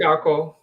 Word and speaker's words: Darko: How do you pronounce it? Darko.